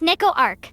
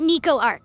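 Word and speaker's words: Neco-Arc: coward first of all it's pronounced Neco Arc not ni Ark tomato tomato [ __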